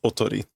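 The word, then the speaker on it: 囮: That kanji is not pronounced decoy because decoy would be the English word for that. So this is kanji. Which is a decoy, but it's normally pronounced otori.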